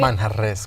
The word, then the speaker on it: Manjarres: It's Manjarres, right? Manjarres, come on, please. You told me not to pronounce it. You told me to use my Anglo accent. You lived in Spain, call me though. whatever You can roll R's better.